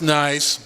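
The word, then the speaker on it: gneiss: that's a nice rock It's pronounced nice yes it is again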